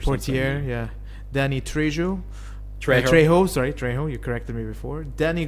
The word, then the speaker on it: Trejo: Trejo, you corrected me before.